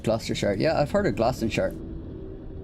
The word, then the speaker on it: Gloucestershire: It's pronounced Gloucestershire.